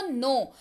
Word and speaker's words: know: नो, KNOW spelling होती है, पर पढ़ते हैं इसको नो।